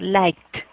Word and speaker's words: liked: la H, ese verbo, o sea, esa ED no se pronuncia como se escribe, sino va a sonar como una T. Entonces, like, ¿sí? En pasado voy a pronunciar liked, ¿listo?